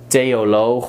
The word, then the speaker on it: theoloog: So just pronounce it as a T.